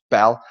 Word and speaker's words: Baal: Baal is pronounced Bel, like the Bell helicopter.